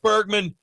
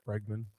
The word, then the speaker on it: Bregman: The Cubs get Bergman and you're celebrating losing a Hall of Famer. I think it's Bregman.